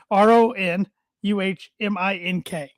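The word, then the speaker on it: Aronimink: It starts with an A, but how you break it down is UH. This is the pronunciation. RONUHMINK.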